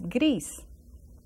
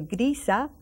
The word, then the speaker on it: gris: the same, so it's gris. We can say grisa, but we say gris.